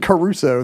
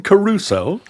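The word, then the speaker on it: Crusoe: that's the thing Robinson Caruso was the original you're saying it the the Gilligan Island Way Robinson Caruso three syllables Robinson Caruso that's how we said it in in my Colonial schools because you had Gilligan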